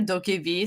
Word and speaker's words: DokeV: please go look up the trailer for dokey v spelled like d-o-k-e-v it's korean mmo because it's by